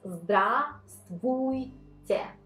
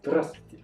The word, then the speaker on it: Здравствуйте: It's like Здравствуйте, but we do not, thanks God, we do not pronounce the first one. So it's just Здравствуйте. Well, that's it, right? Здравствуйте.